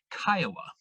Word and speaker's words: CCIOA: Some people will refer to that as CCIOA, and others of you might know it by its nickname, which is Kiowa, pronounced or like the Native American tribe or like the city here in Colorado.